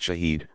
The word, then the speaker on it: shahid: The Arabic word shahid, pronounced shahid, means one who testifies or witnesses, and is thus more or less equivalent to the word martyr.